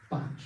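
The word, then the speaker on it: Bache: There's a very interesting professor of religious studies in the States called Christopher Batch, I think it's spelled pronounced B-A-C-H-E, wrote a book called Learning Fields.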